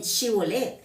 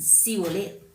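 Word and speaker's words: shibboleth: Porque ellos no podían pronunciar bien chivolet. En lugar de decir chivolet, ellos, ¿cómo se daban cuenta? Que no eran galaditas, porque ellos no sabían decir chivolet, sino ellos decían civolet.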